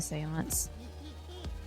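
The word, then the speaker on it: séance: Shouldn't you be helping with the seance? It's pronounced Seance. Sense. Yeah. It's like Sean, but Seance.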